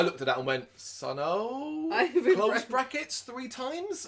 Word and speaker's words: Sunn: it is of course monoliths and dimensions by sun this band absolutely the six studio album by the avant-garde drone doom band wondering how to pronounce it are you one of those people it's pronounced son it's that simplest that so that's a dig